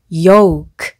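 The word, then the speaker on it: yolk: 그래서 yoke 라고 발음하시면 되고요.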